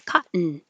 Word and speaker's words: cotton: you make the noise cotton a hundred percent cotton you don't hear this tea you don't hear that tea a hundred percent cotton